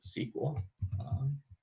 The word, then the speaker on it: SQL: company analyzing whatever data they all pronounce it sequel so sql is how this is pronounced and how you should pronounce it in order to make